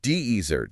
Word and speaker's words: desert: Dezert stress on the first syllable, but the verb meaning to leave or abandon someone like he deserted his team. Stress shifts to the second syllable.